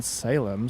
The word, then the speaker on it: Salem: How it's pronounced? Salem. Salem. I would say Salem.